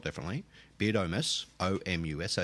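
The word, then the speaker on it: Beardomus: Not like Beardus Maximus, it's spelt differently. Beardamus, O-M-U-S.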